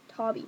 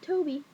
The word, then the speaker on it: Toby: Tobby. Not Toby. Tobby. Tobby. Not Toby. Not like Toby Keith. I mean Tobby. Spelled like Toby, but Tobby.